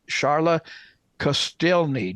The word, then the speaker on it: Sharla Kostielney: the country I'm speaking with chief Master Sergeant charotte celi did I say it right Chief yes sir